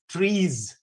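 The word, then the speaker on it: TRIZ: with chris okay tris the correct way of pronouncing is trees right i mean the russians do that okay well uh trees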